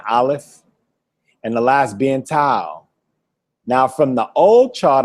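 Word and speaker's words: תו: The Hebrew alphabet consists entirely of consonants, the first being aleph and the last being tau. Now from the old chart I showed y'all seen it said tav, right?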